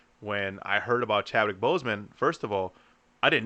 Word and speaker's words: Boseman: Boseman, as you pronounce it, right?